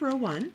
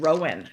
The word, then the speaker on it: Row One: have you heard of Row one oh I think somebody thought we said Rowan they said how did you get Rowan to sponsor your podcast it's Row one spelled like this Row one yarn and